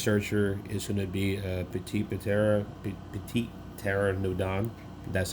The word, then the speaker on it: Petit Pteranodon: And of course, my last searcher is going to be Petit Pteranodon.